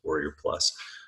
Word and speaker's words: Warrior Plus: It's usually abbreviated W+, but it's pronounced Warrior Plus.